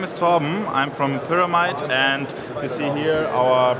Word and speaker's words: Pyramide: No, but we are a German-located company, and it is called Pyramide.